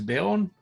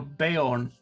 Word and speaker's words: Bayorn: His name is Baron. That Baron spelled with a J? Your daddy's name is Baron? No, Bayorn. Bayorn.